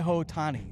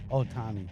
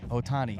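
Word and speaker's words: Ohtani: do you say his name Shai Otani Shai hotani Otani Otani I was way off the H of Silent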